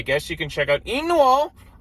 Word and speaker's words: Inu-Oh: you can check out Inu-Oh. I have to say it like that because that's how they say it in the movie.